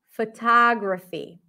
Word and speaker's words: photography: can you hear it it's not fa it's not fo photography by the way if I were to just say the word photograph photograph the first o would be o photograph photography let's let's go through